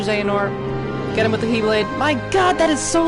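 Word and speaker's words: χ-blade: I know it says weird little X mark instead of a key, but it's pronounced Keyblade.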